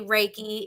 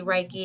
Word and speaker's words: reiki: your life coach now i said reiki but that is you could say reiki its the westernized chinese version you could also say reiki its the japanese proper pronunciation so it's either either way it's kind of like tomato tomato but you're saying the same thing so you're all fine